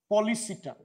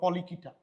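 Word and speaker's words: Polychaeta: এক, পলিসিটা। তুমি এটাকে সির উচ্চারণ ক দিয়েও বলতে পারো, পলিকিটা।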